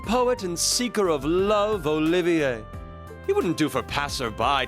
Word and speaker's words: Olivier: am the drifting poet and seeker of love olivier he wouldn't do for passerby to mistake me